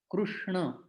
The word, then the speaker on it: कृष्ण: तो जब हम कृष्ण शब्द का प्रयोग कर रहे हैं तो न उच्चारण करते समय हमारी जिह्वा दांतों को स्पर्श नहीं करनी चाहिए, न नहीं होना चाहिए, वो ण है, ण, कृष्ण।